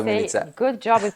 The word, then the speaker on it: Milica: Milica. Hello, Peter. First, I have to say, Milica. Good job with pronouncing my name.